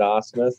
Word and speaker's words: Asmus: You said Asmus. That was great. All right. I remember that because there was a catcher for the Houston Astros. Brad Asmus, yeah. It's spelled differently, but it's pronounced the same, yeah.